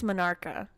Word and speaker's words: menarche: Here, I'm gonna look up how to pronounce that. Yeah, that's how I would have said. Yeah, Minarca. I just. Or just Menarch. I don't know. I would have said something close, but. Menarch. She said Menarch.